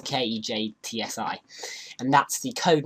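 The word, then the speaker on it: Ketsji: Now kx_ stands for Kejtsi, or Kejtsi, I can't remember how you pronounce it, it's Kejtsi, and that's the code name for the Blender game engine functions.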